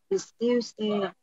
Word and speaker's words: 実習生: Rồi, đọc là xe, kéo dài nhé. Xe, kéo dài, không phải xây mà. 実習生。実習生。せ。実習生。